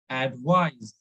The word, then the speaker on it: advise: it is advice so it should be pronounced with z advice it is advice advice